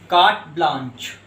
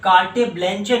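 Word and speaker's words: carte blanche: तो इस तरह के जो पेपर होता है उसको हम जनरली एक वर्ड देते हैं कार्ट ब्लांच। देखिए दोस्तों, इसे आप कार्टे ब्लैंचे नहीं पढ़ेंगे, इसका प्रोनाउंसिएशन है कार्ट ब्लांच।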